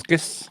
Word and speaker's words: proboscis: It's got the long Proboscis?